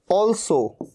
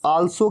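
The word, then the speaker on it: also: ऑल्सो, कई लोग इसे आल्सो कह देते हैं, आल्सो नहीं, क्या कहना है, ऑल्सो, ओ।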